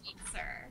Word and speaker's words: Sweetser: So, my maiden name is Sweetser.